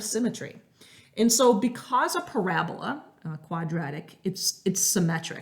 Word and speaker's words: parabola: not looks like it's spelt parabola but it's pronounced parabola and there are some key parts to this